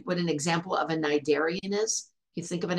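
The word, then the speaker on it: Cnidarian: in the be that there's a c at the beginning of that word we don't pronounce the C it's not a narian just plain narian now nidian they're invertebrates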